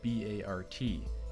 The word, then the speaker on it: BART: and here is where everything appears to tie together Bay Area Rapid transit's official short form is b-a-r-t and it's pronounced Bart could the train references in both